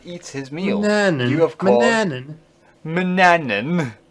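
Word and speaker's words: Manannan: This is where Manan eats his meal. Mananan. You of course. Mananan. Mananan. Yes, you keep forgetting a syllable.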